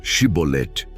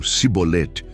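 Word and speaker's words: שִׁבֹּלֶת: Pedem aos fugitivos que pronunciem a palavra chibolet. Os efraimitas, por causa de seu sotaque, pronunciam cibolet, entregando-se imediatamente.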